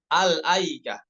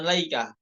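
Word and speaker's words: الأيكة: alikah ya seperti itu alikah ya Bukan laikah Ini kan ini yang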